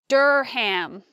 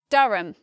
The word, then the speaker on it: Durham: You might expect this word to be more like Durham, because we see the letter U and R, and we might think, oh, it's maybe similar to the word purple or some different pronunciation. We don't expect the vowel there. So we say Durham, Durham.